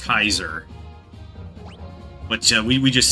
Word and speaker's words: Caesar: No got the pronunciation like etu, but you know in uh uh Latin it's actually pronounced Kaiser, but we we just say Caesar.